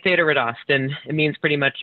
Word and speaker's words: Þetta reddast: It's an Icelandic symbol, and it actually is pronounced TH, but it's Þetta reddast or Þetta reddast.